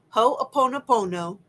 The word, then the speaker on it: Ho'oponopono: So I think that using Ho'oponopono, that's how you say it, Ho'oponopono, and the mantra of I love you, I'm sorry, please forgive me, thank you.